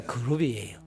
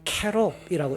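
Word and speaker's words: כְּרוּב: 안에 비치하게 될 그룹 이게 한글로 발음 하니까 그룹이에요 이게 히브리어 원 발음으로 말하면 이게 캐롭이라고 읽어야 됩니다이 그룹을 관한 설명인데 가나안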